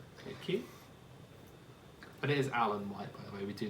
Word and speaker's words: Alain Whyte: well done good thank you but it is Alan white by the way we do know how to pronounce it yeah we do of course we